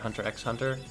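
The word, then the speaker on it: Hunter × Hunter: been enjoying hunter Hunter hunter x hunter apparently the X is silent news to me I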